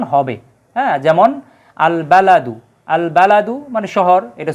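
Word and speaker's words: البلد: এর পূর্বে আলিফ লাম আসলে আলিফ লামের উচ্চারিত উচ্চারণ হবে যেমন আল বালাদু আল বালাদু মানে শহর এটা সূরা তিনের তিন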